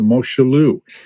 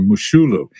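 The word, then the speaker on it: Moshulu: a ship called the moschelu so riyaze you might remember this little tidbit but any uh any thoughts on the i'm sorry the mushulu it's pronounced tell tell us about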